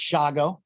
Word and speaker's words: Shago: you that know me my name's actually pronounced shago not schwag i knew i would